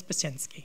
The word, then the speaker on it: Bazinsky: thank you sir and sorry it's Mr bazin bazinsky is am I pronouncing your last name correctly yeah bazinsky thank you Mr bazin